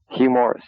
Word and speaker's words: Hugh Morris: Hugh Morris.